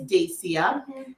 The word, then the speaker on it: Dacia: know that you know my first name is an unusual one it's dacia and if you see it in print you can use all the pronunciations in the book except for the way i just said it yeah and i growing